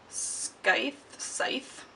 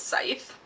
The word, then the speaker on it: Scythe: finally bought actually have no clue how to pronounce this sky scythe i think it's scythe scythe i bought site by neil shusterman next